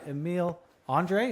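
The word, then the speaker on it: Emil Andrae: Tyson Forrester scores the first goal of the game, second of the season, assisted by Emile Andre.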